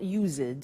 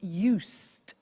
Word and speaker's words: used to: we use used to look at the spelling s it's it's u-s-e-d and then t o but the pronunciation is not used it's used unusual used okay so the example